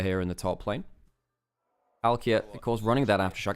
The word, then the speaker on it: Palkia: Oh yeah, by the way, Parukia is pronounced Palkia basically.